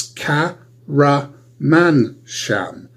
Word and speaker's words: Karamansham: so I'm going to break my name down into syllables for you. It's Ka-ra-man-sham. Ka-ra-man-sham.